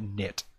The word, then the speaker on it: Knytt: is knit and I tried to look it up and I kept on Googling it and I was spelling it wrong because it spelled like this k n y t t so yeah also yeah